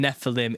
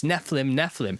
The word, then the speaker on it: Nephilim: Technically, brother, the eem in Nephilim is pronounced eem because it's plural.